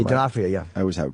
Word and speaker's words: D'Onofrio: D'Onofrio, yeah.